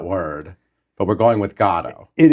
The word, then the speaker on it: Godot: This has been, you know, the the the pronunciation of that word, but we're going with God.